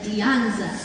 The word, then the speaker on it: Dianza: She says, it's like a lasagna, but Dianza.